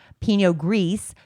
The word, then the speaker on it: Pinot Gris: from: Rosé, Sauvignon Blanc, Pinot Gris, Pinot Noir, or Pinot Gris, excuse me. I'm learning. Pinot Gris. I always thought you pronounced the S on the end, but you don't.